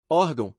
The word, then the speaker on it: órgão: correta a imã órgão as palavras paroxítonas possuem a penúltima sílaba tônica iman sílaba tônica I órgão sílaba tônica or pergunta 11 Qual é